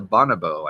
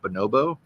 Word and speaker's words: bonobo: hang over their mouths is a bonabo I think is how you say that bonobo bonobo sounds more correct Sparkles as gleams Reese's